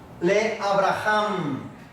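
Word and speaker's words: לְאַבְרָהָם: Esta es una J. Otra A y una M. Le Abraham. Le Abraham.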